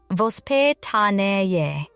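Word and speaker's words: воспитание: To understand why these 10 minutes matter so much, we need to understand a Russian idea called vpidani pronounced vp tane.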